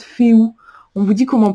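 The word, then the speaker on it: Fehu: Et puis ça, j'adore le fait qu'on vous dit, vous voyez ici, ça se prononce Féou.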